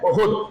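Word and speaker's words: Uhud: अज़मत सहाबा की मुनासिबत से, जंग बदर की मुनासिबत से, ग़ज़वा उहुद हम और आप जानते हैं जिसका प्रोनाउंसिएशन अहद भी है, लेकिन असल ये है उहुद, जो सन 3 हिजरी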